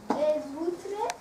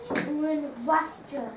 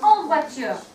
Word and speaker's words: voiture: Les vôtres. Nearly. Think about that sound that O and the I makes in French. Say it. En voiture. Super. Alors la classe, vous répétez. En voiture.